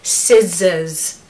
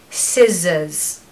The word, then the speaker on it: scissors: sound so scissors scissors so it's a z sound in the middle it's not an S so we want us we want the true s to start and then we want a zed in the middle so scissors I hope you've